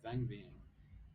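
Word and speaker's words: Vang Vieng: town how do you say van v yeah van Ving okay so it's a small town north of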